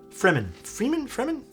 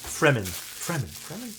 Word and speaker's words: Fremen: Freeman? Dune inspired. But I forget how it's pronounced now.